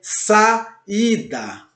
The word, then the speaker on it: saída: E por isso o nome certo, o nome correto é saída, ok? Você percebe que tem um acento agudo no I e o I fica bem mais forte, ela fica uma vogal bem mais forte.